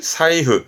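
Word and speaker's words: 財布: 이때는 사이가요.요 재물 재자의 경우는 다 자이자이 가다가 얘만 발음이 사이입니다.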